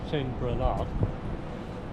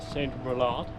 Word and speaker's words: Saint Brelade: So that's why it's "Saint Brelade" and not "Saint Brelade."